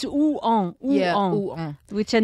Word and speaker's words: Rouen: Well, it's because you have to realize it's two syllables. And it's Rouen.